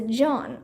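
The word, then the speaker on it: jaune: word for yellow is John only I pronounced Joan like her name um dinkus Josh said what's this got to do with anything said the French word for yellow sounds just like Joan that Sam is tutor's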